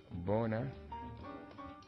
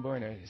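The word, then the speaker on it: Boehner: as uh his uh cohart John a crybaby Bor am I saying it right has signal yeah yeah John bner signal a new willingness to uh cut a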